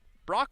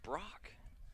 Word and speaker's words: Brock: It's Brock. It's not that difficult. Yeah, you wouldn't think. There's not an extra O in there.